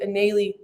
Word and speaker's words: Eneily: everyone knows me by nelly it's just people never knew how to say my name but my real name is actually annelie and anneli